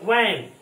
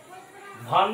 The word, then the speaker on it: van: भी, व, इसका प्रोनाउंसिएशन का होगा व, देखिएगा एज ए वैन, VAN, भान नहीं बोलेंगे, भ यूज नहीं होता है, व, एज ए वैन,